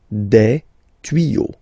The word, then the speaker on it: tuyaux: Des tuyaux. Same rule, you don't pronounce it. Des tuyaux, okay? Un tuyau, des tuyaux.